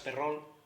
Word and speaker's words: Perrault: pues este hombre es charles perrault con mi francés normalmente pronunciado el perro lo que a principios